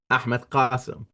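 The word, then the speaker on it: Ahmed Qasem: father pronounces his name Ahmed kasum if you want to pronounce his name how most people will pronounce it where he plays and where he'll come is like Stephen said it so just rewind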